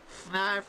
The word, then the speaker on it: Fnarf: You know, Fnarf is looking for you. Fnarf rhymes with barf.